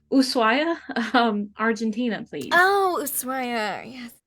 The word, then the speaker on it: Ushuaia: Vacavia? Voskvaya? Ushuaia. Sorry, it looks like a V. Ushuaia, Argentina, please.